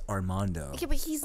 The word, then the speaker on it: Armando: It's pronounced Armando.